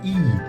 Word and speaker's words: I: I is pronounced as E, as in eel, right? So if you remove L, this is the sound we make, E, right?